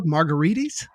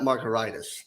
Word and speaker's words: Margaritis: on your name dude it's pronounced like a cocktail mark margaritas but if you look at it closely well it's spelled more like an inflammation like marcoritis so i'll take margaritis but not marcaritis now where do we